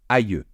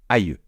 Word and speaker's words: aïeux: Mais on peut aussi, au pluriel, l'écrire de cette façon, et dans ce cas-là, attention, ça se prononce aïeux. Je répète, aïeux.